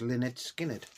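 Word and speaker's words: Lynyrd Skynyrd: of thing um and it's Leonard Skinner pronounced Lynette Skynyrd um MCA record so this is MCG 3502.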